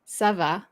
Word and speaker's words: ça va: It makes it instead of a K sound, it's a C sound now.